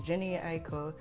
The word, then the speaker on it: Jhené Aiko: I would listen to, I don't want to pronounce her name wrong, Jhené Aiko. I'll put her name right here. It's Jhené Aiko.